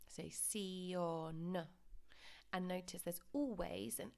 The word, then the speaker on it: televisión: I've highlighted this sion because often students want to pronounce it like the English and say shun. Of course, you need to pronounce every single letter. So sion.